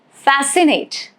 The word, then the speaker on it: fascinate: Rule is C is usually silent after S and before I, E or Y. For example, the word scent. Scent, C is not pronounced. Fascinate, science, all of these letter C is silent as it is coming after the letter S. So it is directly attached with letter S.